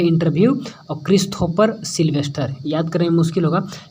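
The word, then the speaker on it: Christopher: लेकिन CH है start, ठीक है, चलेंगे, लेकिन हम लोग को यहाँ पर प्रोनाउंसिएशन क्या है? क्रिस्थोफर, यानी क्रिस्थोफर है, यानी कि के आ रहा है।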